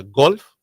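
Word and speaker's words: gulf: Golf is pronounced different than golf, just like God. It's just like God is different from God. What we say? We say golf. This is G-U-L-F. And so it's golf.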